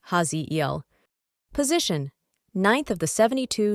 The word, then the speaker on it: Haziel: Cosmic ID card name Haziel pronounced Haziel.